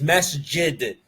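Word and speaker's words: مسجد: Pronouncing the jim with the ghain sound? Some people say, yes, this is a mistake. But it's not a mistake. Because Arabs have different dialects. And that jim's pronounced with the ghain sound or a G sound, this comes from a tribe in Yemen.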